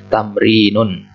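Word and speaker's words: تمرين: Ini bacanya tamrinun.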